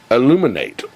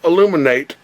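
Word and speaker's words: aluminate: But it's spelled illuminate. A-L-U-M-I-N-A-T-E. Not illuminate like you illuminate your freaking Christmas tree.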